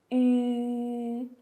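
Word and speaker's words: ü: And just you need to pay extra concentration on the last one, which is a U with the two dots on top of the U. The pronunciation is like oo.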